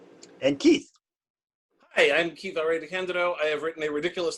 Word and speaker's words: DeCandido: And yes, it's pronounced DeCandido.